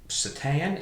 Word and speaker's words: seitan: It is made out of seitan. Is that how you pronounce it? S-E-I-T-A-N? Okay, well, and actually it's interesting because I think it's pronounced seitan or something like that, but it is actually like a wheat product.